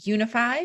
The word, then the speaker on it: Younify: I'm the CEO of Unify, which is spelled funny. It's YOUNIFY.